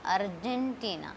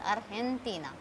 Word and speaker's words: Argentina: It is not Argentina, it is Argentina.